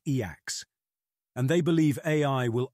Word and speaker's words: e/acc: They call themselves effective accelerationists, or E/ACCs, pronounced EACs.